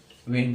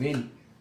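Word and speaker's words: when: Side से, ये देखो जैसे ये है तो इसमें इसको साइलेंट रखना, ऐसे ये है वेन, तो इसमें इसको साइलेंट, वेन क्या उच्चारण क्या रहेगा? वेन।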